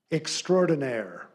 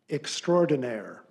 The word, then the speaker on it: extraordinaire: Your word is extraordinaire. Extraordinaire. Alternate pronunciation.